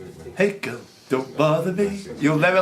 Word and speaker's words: Hegel: No, there's no facts about Hegel. Yeah, there is. Go on. He rhymes with bagel.